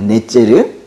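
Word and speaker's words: נֵצֶר: 이 가지라는 단어가 히브리어로 발음이 넷제르인데요. 넷제르.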